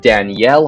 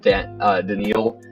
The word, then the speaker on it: Danielle: this name is that his real name is actually pronounced Danielle Hunter because I'm pretty sure